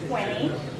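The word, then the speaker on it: twenty: So technically there is a T there, but the T after an N is not always pronounced, as in the word 20.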